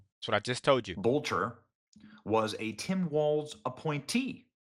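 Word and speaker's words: Boelter: Vance Bolter. Bolter. I'll say it correctly.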